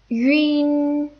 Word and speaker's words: yun: And this is yin, yin. It's essentially U followed by N, so it's yin.